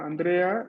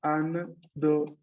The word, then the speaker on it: Andrea: Andrea en español es así tal cual, Andrea, 3 sílabas, Andrea. Mientras que en japonés sería Andorea. Andrea. Andrea. ¿No? Se escucharía justamente un poco distinto, justamente porque se rellena la sílaba.